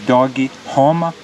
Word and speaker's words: Dog Roma: It is a restaurant that is called, in English you could say Dog Roma, but in Portuguese they say Dog Roma. That's how in Brazil they pronounce it.